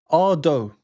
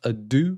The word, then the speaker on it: Ado: Ado. I googled it, and apparently it is pronounced Ah-dough and not Ah-doo.